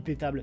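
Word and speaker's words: iptables: noyau qui qui s'appelle hippie table oui pétable si vous préférez si vous voulez le prononcer en français et donc hippie table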